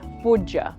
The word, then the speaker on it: Boodja: Boodja? Boodja? Close. Boodja.